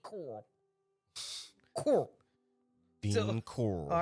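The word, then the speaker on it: Corll: So, you got to tell the audience it's spelled C O R L L. Coral. That's why she can't say it.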